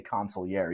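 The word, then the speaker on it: consigliere: that you like smile every time I say consiliary because you know I'm one of the few people who actually pronounce it right for you but U here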